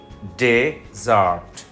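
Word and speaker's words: desert: হয় তাহলে close close D ই এস ই আর টি যদি মরুভূমি বোঝায় তাহলে ডেজার্ট ডেজার্ট আর যদি ত্যাগ করা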